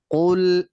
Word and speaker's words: قل: কফ হয় গলার নিচে অর্থাৎ জিহ্বার গোড়া থেকে, আর উচ্চারণটা হবে ভারী আওয়াজ।